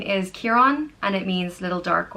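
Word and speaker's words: Ciarán: So if it's C-I-A-R-A fada N, it's Kieran.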